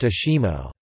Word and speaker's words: ASIMO: derived from advanced step in innovative mobility is pronounced Ashima it was originally a research and development program